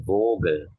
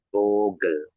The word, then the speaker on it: Vogel: Yaitu vogel ya. Vogel itu burung ya. Ini biasa aja ya. Tapi memang huruf V-nya ini memang ditekan ya menjadi vau kan. Jadi vogel.